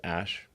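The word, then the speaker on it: Æ: Um and then the AE is like pronounced ash.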